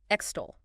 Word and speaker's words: extol: Extol. E-X-T-O-L. X-T-O-L. 2 syllables. Stress on the second.